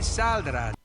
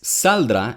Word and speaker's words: saldrá: Que saldrá. Then he says saldrá instead of saldrá. He's putting the stress in the first syllable of the word instead of the second.